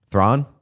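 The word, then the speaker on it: Theron: Thronon. Apparently, it's more of like a thron. Yeah. South African.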